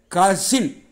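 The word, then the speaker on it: cousin: இரண்டு வகைக்கும் இரண்டு பாலினத்திற்கும் சேர்ந்த ஒரே ஒரு வார்த்தை கசின் சி ஓட் எஸ் ஐ என் கயூ வை கான்னு தான் உச்சரிக்கணும் கசின் ஆன்ட்ஸ் சன் அல்லது ஆன்ட்ஸ் டாட்டர் ஆண்பால்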